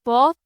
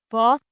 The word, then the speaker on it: bohat: The bot has like a sort of like a barely audible H in the middle of it. So like bot, not bot.